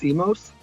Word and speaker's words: Simos: how do you say your last name it's CMOS CMOS CMOS with GTL guaranteed trust life